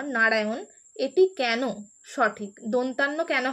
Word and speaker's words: নারায়ণ: কেন হবে কারণ হচ্ছে আমরা যখন অন্তুস্থ অটা উচ্চারণ করছি অন্তুস্থ অ এর পরে এই যে মূর্ধন্য ন টা আছে দেখুন এই মূর্ধন্য ন টা যখন উচ্চারিত হচ্ছে অন্তুস্থ অ এর পরে তখন আমাদের জীবটা ভাঁজ হয়ে মূর্ধাকে স্পর্শ করছে আমাদের জীব অন্তুস্থ অচ্চারণ